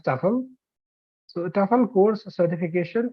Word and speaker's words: TEFL: the tefl the Staple in short we pronounce it as tuffle so the TOEFL course